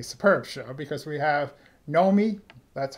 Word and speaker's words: Nomi: And the first show is a I think a superb show because we have Nomi. That's how you say it. Yes. No me.